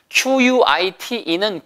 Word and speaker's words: quite: Q-U-I-T-E는 꽤란 뜻이에요. 따라해보세요. quite. 입술 내밀고 qua. Q 다음에 U는 다 W 발음이 있다고 했죠? qua. quite. 그런데 Q-U-I-E-T 일부러 써드리진 않습니다.